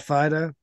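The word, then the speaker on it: Phydoux: Troy you're here I think this is pronounced Fido you're here p-weight p h y d o u x when you consider that Fido yes absolutely and Maynard W you're here thank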